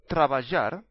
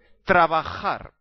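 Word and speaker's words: trabajar: Comm mistake is hamon ham and it's not travar is traar to work so please don't make all these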